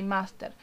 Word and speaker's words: master: You know, it's the English word, but with an Argentinian pronunciation. So you would just say master.